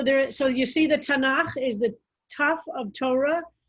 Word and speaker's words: Tanakh: so that is how and tanakh is how we pronounce it with uh so tanakh